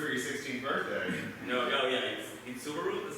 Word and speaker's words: Subaru: in my ready 16th birthday no oh yeah Subaru that's how you pronounce it yeah okay you're American you know